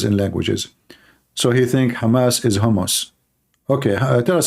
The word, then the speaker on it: Hamas: hamus hamus terrorist Trump he do not know how to say the word Hamas he called him hamos he just called Hamas